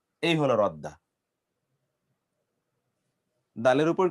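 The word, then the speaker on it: ردّ: কিন্তু দুটো বর্ণ যদি একরকম হয় তাহলে আরবরা সাধারণত দুটো বর্ণকে একটার সাথে তারা কি করে? একটার সাথে ওটাকে নিয়ে গিয়ে তখন একসাথে উচ্চারণ করে।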